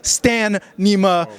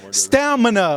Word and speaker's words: stamina: me so much crap for pronouncing this stanima stamina okay I got it this time but uh